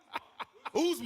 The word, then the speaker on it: Usman: Usman.